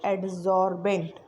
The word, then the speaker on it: adsorbent: surface of which adsorption takes place is called adsorbent. See here you have to pronounce it properly. It is adsorbent.